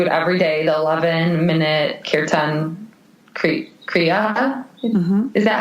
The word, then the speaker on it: kirtan kriya: So the meditation that I do currently, I do it every day, the 11-minute kirtan kriya. Mm-hmm. Is that how you pronounce it, Chelsea?